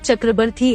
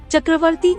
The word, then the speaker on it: Chakravarti: And even the word Chakrabarti in North is spoken as Chakravarti in South, where letters Va and Ba exchange their pronunciations.